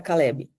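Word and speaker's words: כלב: Eh, ele tem três letrinhas aqui que fica na pronúncia fica cale, cale, né? Como se fosse um vezinho no final aqui.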